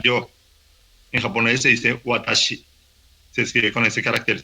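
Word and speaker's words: 私: Entonces, por ejemplo, la palabra yo, en japonés se dice watashi, se escribe con ese carácter chino, y en chino se escribe uo, se dice wo, se escribe así.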